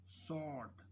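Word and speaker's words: sword: W silent हो गया सौठ मैं तलवार डब्लू साइलेंट अ हाइट चुके हैं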